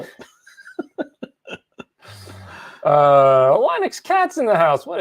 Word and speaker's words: Linux: No, there's that famous sound clip of Linus Torvalds, whatever, saying his name that he pronounces it Linux.